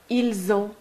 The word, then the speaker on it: ils ont: You'll see that in this last or second column, you always pronounce a Z between the S and the A. Nous avons, vous avez, ils ont, elles ont. This is called liaison.